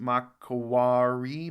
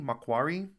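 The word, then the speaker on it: Macquarie: Lord how Island um Marquee Island mentioned in the video pronounced mcari Makari Christmas Island's an interesting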